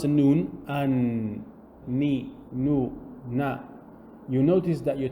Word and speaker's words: noon: whenever you pronounce the noon and you notice that your tongue is touching somewhere specific and it's actually just behind the top teeth and there is a nasal sound there is some air